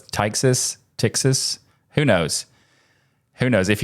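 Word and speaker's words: Ptyxis: Maybe that's a silent P, so it's Tyxis.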